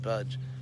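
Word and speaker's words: भज्: The verb bhaj in Sanskrit bhaj, pronounced just like the English word to budge, as in to move.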